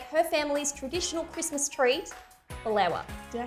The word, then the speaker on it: baklawa: And she's going to be showing us how to make her family's traditional Christmas treat, Baklawa. Did I say it correctly? Baklawa, which is actually a recipe that I grew